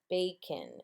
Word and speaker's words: bacon: Now I hear kin, but it is a schwa sound. It is a schwa sound. So it's a vowel that doesn't sound the way it does when you say it. Bacon.